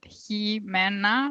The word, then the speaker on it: Jimena: You pronounce it Jimena, like he, like a guy, man, like a bunch of guys, and I always like to let people know because people struggle with my name.